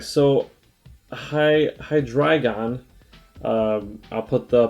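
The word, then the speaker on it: Hydreigon: used to saying that on the board but high dragon is right below uh accent on the dry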